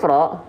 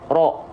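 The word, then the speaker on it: ر: Jadi tanpa memonyongkan bibir. Jadi kalau kita lafalkan teman-teman sekalian, itu bukan dilafalkan seperti ini. Perhatikan, ro. Nah, bibir kita tidak perlu dibulatkan, ro, tapi cukup buka mulutnya, lalu lafalkan huruf ro.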